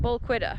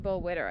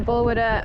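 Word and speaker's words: Balquhidder: The people I saw said Bullquidder, but I think that's actually not how you say it. We thought it was that at first. It's actually Bullwidder, I think. I think that's what the locals say.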